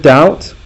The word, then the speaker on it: doubt: cross it out now the word doubt when you eat when you're not sure of something is spelled with a being they forgot to be so it's a silent doubt so you need to